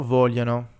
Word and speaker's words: vogliono: We have io voglio, tu vuoi, lui vuole, noi vogliamo, voi volete, loro vogliono. And here, remember, we're not actually pronouncing the G's. It's part of another kind of y sound.